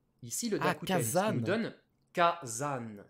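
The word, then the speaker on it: 火山: ou pas non non le mot volcan se dit kazan dans le vocabulaire il est écrit kazan si vous dites kazan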